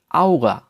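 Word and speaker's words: Auge: যখনই আ উ কোনো শব্দে থাকবে তখন সেটার উচ্চারণ হয়ে যাবে আউ এর মতো, আউ আউ। এবং এর উদাহরণ হচ্ছে আউগা, আউগা, যার অর্থ হচ্ছে আই বা চোখ, আউ, আউগা, চোখ।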